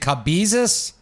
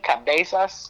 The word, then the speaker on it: Cabasas: your last name correct is it cabus uh I'm not sure like there's there's you know different people pronounce it differently I say cabasas oh cabasas I apologize